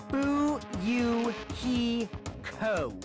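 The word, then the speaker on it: Fuyuhiko: last name is my first name is pronounced who you he ko i'm still an inexperienced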